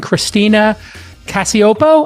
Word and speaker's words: Christina Cacioppo: I thought I would bring Christina Cacioppo. I pronounced it correct.